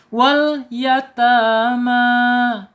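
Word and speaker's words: الْيَتَامَى: Wal yatama taknya panjang 2 harokat karena ada fathah yang berdiri. Mimnya panjangnya dibaca panjang karena ada fathah yang berdiri sama dengan ta.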